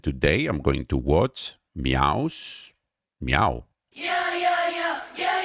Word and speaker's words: MEOVV: It's gonna take a little of time to get used to their name because it's written Meow, but it's actually pronounced Meow.